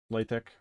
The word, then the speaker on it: LaTeX: I like writing LaTeX. I think you're supposed to pronounce it LaTeX, but that's pretentious.